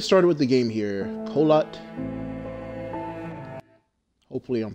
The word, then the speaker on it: Kholat: Okay, we are pronouncing it right. Kholat.